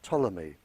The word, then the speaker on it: Ptolemy: by the name of ptolemy uh spelled with a p he very famous scientist